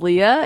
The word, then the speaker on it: L E A: but like I said my name's Leah it's spelled with spaces so l space e space a and then also known